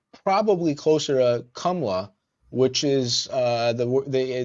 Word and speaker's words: Kamala: the issue is that the name is actually KLA right meaning Lotus that's the exact uh meaning of that word so it's not Kamala she could choose to pronounce it that way I mean you know